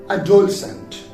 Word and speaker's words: adolescent: later e absence now the second example is adolescent so adolescent is spelled as a d o l e s